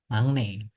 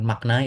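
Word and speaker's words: 막내: Sedangkan termuda ini untuk yang opsi A tadi itu adalah magne, bukan makna ya bacanya. Ya, secara tulisan tadi memang ditulis maknanya, tapi magne ya dilebur kalau di bahasa ee tata bahasanya.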